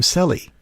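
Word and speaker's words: Sele: I'm familiar with but the two locals that I asked about it pronounce the name Sally so that's how I'll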